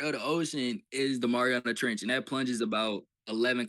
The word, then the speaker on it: Mariana Trench: So it don't say the Mario trench or whatever how you say it. But I do see the Mariana Trench bro.